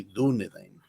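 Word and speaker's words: Dúnedain: sí mismos dunedin hombres del oeste y se pronuncia así dunedin no también está el tema de los plurales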